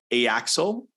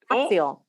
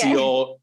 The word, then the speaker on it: Axial: Artistic director for I want to say it wrong, is Axel. Axial. Oh, I tried so hard. Yes, that's Axial, artistic director.